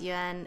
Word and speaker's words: Yuen: And uh fourth tone and then Yan is written like this. Technically the pinion is spelled wrong on my name but that's because I speak a different dialect than Mandarin. So this is Yen as in second time.